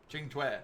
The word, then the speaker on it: Qingque: Qingque. So that's how that's pronounced.